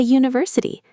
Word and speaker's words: university: And here's a surprise, a university, because it starts with a U sound, not a vowel sound.